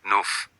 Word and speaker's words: neuf: Neuf, you hear the F, neuf.